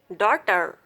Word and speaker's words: daughter: GH is usually silent after a vowel sound. GH is always silent in middle word. Right, night, light, flight, tight, might, hide, high, thigh, daughter, through.